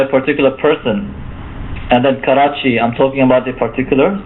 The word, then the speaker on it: Karachi: the particular City it's a city in Pakistan Karachi that's how that's how you would pronounce it Karachi uh okay so uh this is a definite